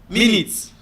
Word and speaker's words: minutes: The same thing as minutes and minute. Do you get? Minutes here, the first syllable is the stressed syllable, which is talking about time.